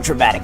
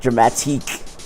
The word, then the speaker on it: dramatique: I guess I could be a little dramatic at times. I suppose it's the actor in me. Oh, I mispronounced it. Dramatique.